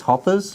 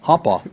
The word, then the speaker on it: Hopper: of the famous Hoppers. How you say it? Hoppa? Hopper. Hoppa. The Hoppers. You sound like you're from Virginia. They say hoppa. They don't put an ER on it.